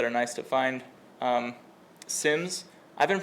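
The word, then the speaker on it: SIEM: Um SIMS, I've been pronouncing this wrong my entire life. I thought it was seam. Hope has informed me it's actually pronounced sim.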